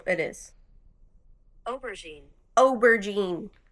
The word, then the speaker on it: aubergine: Pronounce. Here we go. Okay. This is how it is. Aubergine.